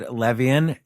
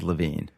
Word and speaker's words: Levien: I'm here with David levian David LaVine let's just go right off the top there it's spelled Levan yeah I know l v ien but it's David LaVine who decided that you